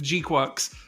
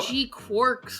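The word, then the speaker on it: GQuuuuuuX: It's also gives it funny synergy with G-Quux, which is how you pronounce it, apparently. G-Quux. G-Quux. Everybody was saying G-Quarks or obviously G-Cucks, but I've seen people assume G-Quarks because like in Japanese it would be G-Quaxu or whatever.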